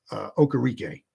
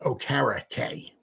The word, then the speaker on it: Okereke: If you ever think about how to pronounce his name, just think carrot cake. Bobby O. Carrot Cake. Bobby Okereke. Bobby Okereke. Carrot cake. Okay. I always thought it was Okereke, but it's carrot cake.